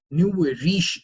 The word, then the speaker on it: nouveau riche: what do you mean by new way rich new way riche is how you pronounce it it's a French thing for people